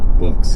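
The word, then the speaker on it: Boox: We just thought it was Books until someone was like, "It's definitely pronounced Books."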